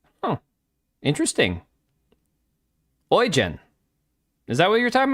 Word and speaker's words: Eugen: It's pronounced Oen. Huh, interesting. Oyen.